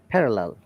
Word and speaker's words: parallel: that explanation of shazam pair ll we don't stress on it parallel parallel parallel okay but look at that yes ipa let us listen to it um parallel would you like to try one yes one more parallel parallel okay but look at the american idea parallel parallel the deep tongue is not there can you have you